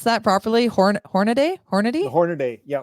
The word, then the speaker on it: Hornaday: Did I pronounce that properly? Horn Hornady. Hornady. The Hornady. Yeah. Hornady Wilderness Society.